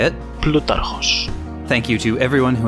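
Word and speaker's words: Πλούταρχος: Thank you to Serperoth on the MSB Discord for coaching me in the modern Greek pronunciation of, I'll just let him say it, Plutarchos.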